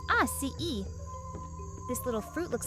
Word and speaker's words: açaí: first up let's talk about the atai berry pronounced AI e this little fruit looks like a cross between